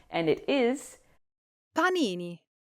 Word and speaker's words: panini: For pronunciation, make sure the a in p is an open, clear a sound, like the a in pasta or father. English speakers often make it too soft, like a p, but that's incorrect.